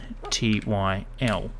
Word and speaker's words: pterodactyl: P, because it's silent. Terodactyl.